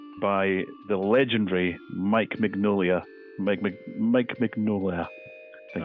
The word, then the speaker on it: Mignola: Mike Mignola, I think it's pronounced, Hellboy creator.